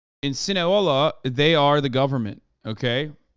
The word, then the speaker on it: Sinaloa: Am I saying it of wrong? Sinaloa? Sinaloa. You said Sinahola? No, I didn't. I don't even know how to. Those Sinahola? I don't think I've ever said that. You said it wrong once, and chat can't shut the fuck up.